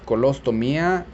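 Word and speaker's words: colostomía: colostomy and in spanish is colostomia with an accent on the eye don't forget those very important accents and what is a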